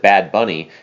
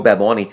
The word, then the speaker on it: Bad Bunny: and and i have been told you've been told i would pronounce it bad bunny and i've been told that is wrong that's